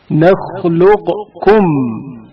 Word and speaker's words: نخلقكم: قاف ساکن کا کاف متحرک میں ادغام. نخلقكم. ادغام کی حالت میں نخلقكم نخلقكم پڑھا جاتا ہے.